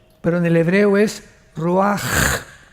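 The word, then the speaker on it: ruach: en el hebreo es Roach. La CH en el hebreo es como J, Roach, que significa espíritu.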